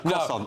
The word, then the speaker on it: croissant: No, I say croissant. I wouldn't say it like that. I'd say it like a pot, do I? Yeah. Don't pronounce the T.